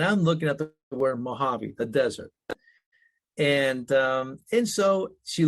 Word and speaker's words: Mojavie: She goes, Dad, if you took Mojave, just slap an I in front of the E, it would be pronounced Mojave.